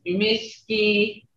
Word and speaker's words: Misky: How you pronounce it is Misky, long E. Me E, Misky. That's summer. Is that not summer? You say Misky, okay? That's, there's that tone in there.